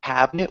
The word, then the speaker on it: cabinet: With cabinet, we almost make it 2 syllables, so it sounds like cabinet.